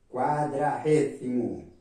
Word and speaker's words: cuadragésimo: Cuadragésimo, en principio de la palabra, palabra con la letra C, no con la letra Q como se escribe en portugués. Y el sonido en medio de la palabra, en la G, G con sonido de R. Entonces, cuadragésimo.